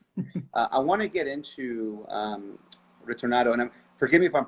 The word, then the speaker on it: Ritornato: I want to get into Ritornato, and forgive me if I'm pronouncing it. How do you say it properly? Ritornato.